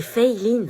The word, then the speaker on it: Feyelin: C'est Feiline. Feyeline? C'est Feiline. Bah, c'est écrit Feyelin. Oui, mais ça se prononce Fei, c'est américain en fait. Et Line parce que c'est asiatique.